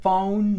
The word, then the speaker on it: phone: What's your phone number? Y noten la pronunciación de la palabra phone. Phone. Phone. Phone tiene diptongo y es usualmente el error que las personas que hablan español tienen cuando la pronuncian.